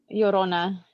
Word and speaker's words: Llorona: Llorona.